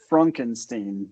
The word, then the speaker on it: Frankenstein: composers with you is Young Frankenstein, which that's pronounced Frankenstein.